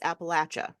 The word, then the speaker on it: Appalachia: okay all right so we gota get these things straight once and for all not if you're not from the appalache area that's how you say it take it from a